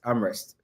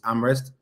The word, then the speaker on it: Amherst: You need to pronounce it well. Other than that, people will butcher that name. So University of Massachusetts Amherst.